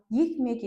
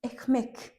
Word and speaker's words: Ekmek: Мысалға, екмек емес, экмек. Экмек.